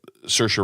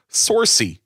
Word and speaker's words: Saoirse: she had talked about that doing the work Saoirse Ronan that that was the hardest part of